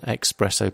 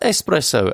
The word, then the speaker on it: espresso: annoying when people say can I have an expresso please it's pronounced espresso and let's go with it as the international